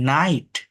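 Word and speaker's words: night: ইউ এর উচ্চারণ আয় আইজি এইচ আই হয় জি এইচটা সাইলেন্ট থাকে এটা খুবই গুরুত্বপূর্ণ দেখেন জি এইচ অলওয়েজ সাইলেন্ট থাকে এটা মনে রাখবেন যেমন নাইট সাইট মাইট হাই ফাইট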